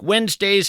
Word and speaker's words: Wednesday: If you're in fact scribbling this down, Wednesday is kind of tough to spell. It's not like it sounds. You want to spell it we nz, but that of course would be a mistake.